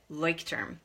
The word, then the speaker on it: Leuchtturm: I've been told that's how we pronounce it, Leuchtturm.